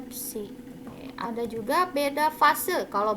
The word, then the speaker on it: psi: Simbol dari fase ini dibacanya psi.